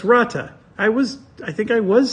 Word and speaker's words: Rata: It's like a little trill with the R that I can't do. But Rata. Okay, so it's Rata.